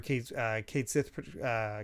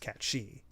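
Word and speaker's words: Cait Sith: Cloud will say you're Kate Sith, and it'll be a running joke whenever Kate Sith corrects people by saying it's pronounced Cat She."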